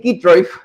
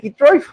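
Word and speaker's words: Kitroeff: usted las notas de Natalie Kitroev, o Kitroev, o Kitroyev, como sea que se pronuncie su apellido.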